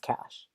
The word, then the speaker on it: cache: idiot because it's pronounced cash like there was like